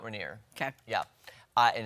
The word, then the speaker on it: Rainier: Mammoth, Rainier, Teton, and Mesa. Now see, I would have said Rainer. I only know because I've been to Mount Rainier.